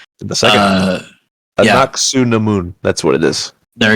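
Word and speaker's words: Anck-su-namun: I can't even pronounce her name. The second uh Anaku Namun.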